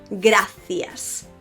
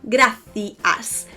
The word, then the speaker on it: gracias: thank you in Spanish gracias gracias have you noticed how I finished that with an S and I have no problem pronouncing that is not to be confused